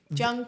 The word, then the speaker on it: Jungkook: When I remember when we started, Jungkook is probably the way you pronounce it if you're saying it in Korean properly, but phonetically spelling it because it is a K.